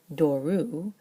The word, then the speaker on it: δώρου: But if we make it of the gift, doru, that last syllable is a diphthong now, u, which is long, which means the Greek is no longer comfortable with a circumflex over the second to last syllable, over the penult, so it changes to an acute.